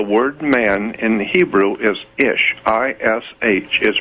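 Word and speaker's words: אִישׁ: no no the word man in Hebrew is ish I sh is pronounced a she is H is man in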